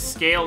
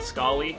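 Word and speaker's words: Skail: scale is leveling up its scale not scollay I was pronouncing that wrong but yeah scale is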